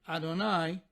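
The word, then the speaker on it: יהוה: referred to simply as the Tetragrammaton, as Yud-He Vav-He, or as we pronounce it, Adonai.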